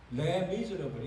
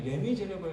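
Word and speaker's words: Les Misérables: 이거 뮤지컬 만들어서 뮤지컬이 더 유명해졌는데, 레 미즈러블. 이거 부르라면 레 미즈러블 이렇게. 레가 정관사고, 미즈러블이 형용사고. 그러니까 불쌍한 사람 이렇게. 우리는 흔히 레미제러블 이렇게 발음하는데 실제로 레미제러블, 이 영어하고 비슷한 단어죠.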